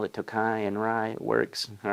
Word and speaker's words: Tokaji: but moving on to the nobleman again is pronounced Tokai of course there's different dialects in Hungary and there might be a little play on that but for the most part just call it takai and Rye it works all right 107 proof